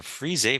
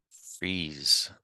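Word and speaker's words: frieze: Am I saying that right? Frise? That's how one of my teachers said it. How do you pronounce this word? Freeze. They just call it freeze patterns.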